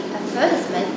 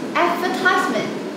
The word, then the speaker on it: advertisement: And then there is a difference in stress, like in advertisement versus advertisement.